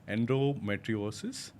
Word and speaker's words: endometriosis: I mean there's another term you can correct me if I'm pronouncing it wrong endometriosis. You've pronounced it absolutely wonderfully well.